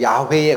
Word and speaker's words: 야훼: 모음과를 여기다 붙이면 여호와예요 근데 이거를 있는 그대로 읽으면 야훼에 가까워요 야훼 근데 애니웨이 이걸 읽지